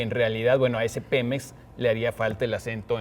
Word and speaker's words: Pemex: Por ejemplo, eh, Pemex, si deberíamos escribirlo con con acento en la e porque tenemos Pemex solo con mayúsculas y en realidad, bueno, pues deber sin como no lleva acento, deberíamos estarlo pronunciando Pemex, pero bueno, si alguien